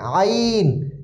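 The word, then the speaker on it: عين: ভুল করে থাকে এজন্য আইন একটু গলার ভিতর থেকে চাপ দিয়ে উচ্চারণ হবে যেমন হালামিন আলামিন হামদু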